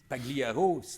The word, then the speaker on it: Pagliaro: C'est comme Pagliaro, Folia, ces gars-là. Pagliaro, c'est sympathique, mais le G, c'est un L mouillé. On dit Pagliaro, on dit Folia.